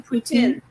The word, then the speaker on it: poutine: sweetie how do you say it again Melissa poutine thank you um I I had it because